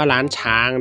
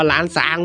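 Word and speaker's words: ล้านช้าง: ความ จริง แล้ว เนี่ย ตาม ภาษา ลาว นะ ครับ เขา ไม่ มี ชอ ช้าง นะ ครับ ที่ เรา อ่าน ว่า ร้าน ช้าง เนี่ย มัน มัน มัน มัน ผิด นะ ครับ มัน ไม่ ถูก ต้อง ตาม หลัก ชื่อ ของ เขา จริง ๆ นะ ครับ เพราะ ว่า เขา ไม่ มี ชอ ช้าง มัน ต้อง อ่าน ว่า ล้าน ซ้าง โว้ย หลัง จาก นั้น นะ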